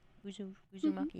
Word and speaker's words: Uzumaki: Uzumaki, is that how you pronounce it?